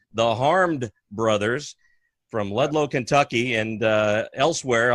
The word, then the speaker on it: Harmed Brothers: Harmed brothers, Harmed Brothers, as in you've been harmed? as in oh woe is me.